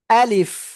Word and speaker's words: ألف: আ একটু জোরে ধাক্কা বা হবে শক্তভাবে। তারপরে লিফ, শেষে এসে নিচের ঠোঁটের পেট উপরের দুই দাঁতের আগার সাথে লাগবে, লেগে হালকা বাতাস বের হবে। আশা করি ইনশাআল্লাহ সবাই ক্লিয়ার। আলিফ আলিফ আলিফ, কোনো টান হবে না।